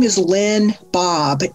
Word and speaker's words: Baab: my name is Lynn Bob. It rhymes with sob cars.